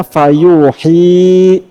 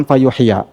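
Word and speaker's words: فيوحي: Muhammad Sallallahu Alaihi Wasallam dalam qiraat Imam Nafi dibacanya fayuhi bukan fayuhya nah eh a yursilu kalau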